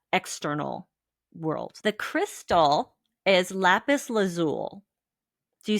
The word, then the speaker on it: lapis lazuli: I've never pronounced the I. I've always said lapis lazuli. I didn't even know I there was mean, an both are I.